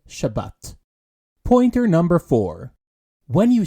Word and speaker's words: Shabbat: keeping to this topic ashkanazi Jews in the English-speaking World pronounce the soft Tav as an S which leads us to the different pronunciations between Tel Aviv and chabis where Israelis pronounce it Tel Aviv and Shabbat pointer number four when